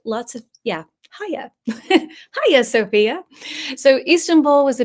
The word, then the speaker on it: Hagia Sophia: you will see that the way I'm pronouncing it looks very bizarre. Ha. Sophia. No G involved. Lots of Yeah. Ha. Hia Sophia.